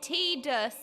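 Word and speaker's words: Tidus: T-dus is the correct pronunciation.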